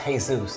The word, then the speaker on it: Jesus: It's pronounced Jesus, Todd, relax.